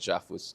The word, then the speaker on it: JAFUS: jaffus Japan Philippine us I call it jafus to to make it sure it rhymes with OS um there's like a